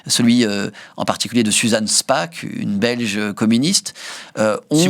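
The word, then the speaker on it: Spaak: de résistance protestante celui en particulier de Suzanne Spa une belge communiste. On si vous cherchez ça s'écrit SP2.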